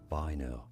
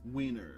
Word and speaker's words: Weiner: pronounce weer this reference in German this is said as Viner V there you go but in English this name is pronounced as wiener Wier it's weener right